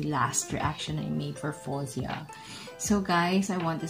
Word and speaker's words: Faouzia: also thankful for him correcting me on how to pronounce possessed name so i i hope i got this okay i got this correct now it's fawzia so there thank you so